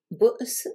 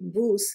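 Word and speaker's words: بؤس: Bo's veut dire misère. Il faut bien prononcer le hamza parce que sinon on dirait bous qui veut dire embrasse, impératif masculin. Bo's, misère.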